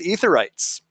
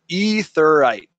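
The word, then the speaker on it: aetheryte: There wasn't really much new there, but they did discuss aetherites, and they are pronounced etherite, not aetherite.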